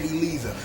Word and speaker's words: Eliza: C to look at some producer told some voice actress to pronounce This Woman's name Elisa so what we are